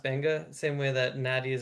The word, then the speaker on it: Beqa: Uh I know it's spelled Beqa, but it's actually pronounced Benga, same way that Nadi is actually pronounced Nandi.